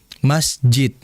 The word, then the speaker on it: masjid: Masjid. Apakah itu betul dalam pengucapan makhraj? Betul dalnya, tapi sifatnya masih kurang sempurna. Karena huruf dal memiliki sifat qalqalah. Dipantulkan masjid.